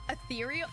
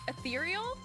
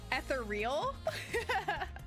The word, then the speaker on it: ethereal: Uh ethereal ethereal. I think that's how it's actually said. Ethereal. Uh but I would always read it as etheral.